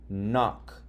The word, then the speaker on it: knock: When there's a K and then an N, the K is silent and you sound out the M. That's why you would say knob, ignore the K. Knock, ignore the K.